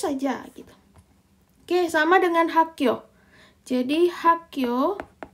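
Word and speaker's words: 학교: Oke, sama dengan hakyo. Jadi hakyo. Jadi dia H, A, K, hakyo. Nah, ini G-nya jadi double kita bacanya. Jadinya hakyo.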